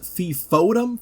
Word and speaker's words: FFOM: Chris Evans, no, not that Chris Evans says, "Today is the first Friday of the month, or FFOM, pronounced Fifm."